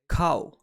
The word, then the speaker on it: 買う: To buy is pronounced as cow, and a good way to bind cow, the 3 boxes, and to buy into one sentence is like this.